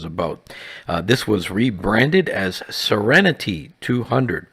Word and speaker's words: Seren T200: This was rebranded as Serenity 200, pronounced like the word serenity.